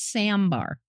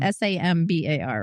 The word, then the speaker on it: Sambar: And I didn't realize it's Sandbar. I thought you said Sandbar. Sandbar. Sandbar. No, I I'm not saying you said it wrong. I'm just saying it's S A M B A R.